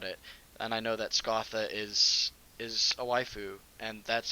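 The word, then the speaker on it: Scáthach: I always remember reading it as Scathach, and I was like, that's a weird name. But then I like looked it up, and it's like it's pronounced Scotha, and it's like, oh, that's much better than Scathach.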